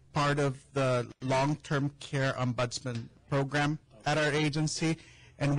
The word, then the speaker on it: ombudsman: Ombudsman is the word? Ombudsman? Is that how you pronounce it? Ombudsman, yes. Yes.